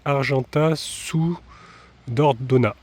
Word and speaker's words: Argentat-sur-Dordogne: cas ils disent alors la prononciation c'est Argenta sous dordona apparemment le nom d'origine